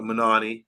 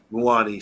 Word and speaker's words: Muani: So they got Manani, the guy from German football, and Yes. Muani, sorry, yeah. It rhymes with Panani.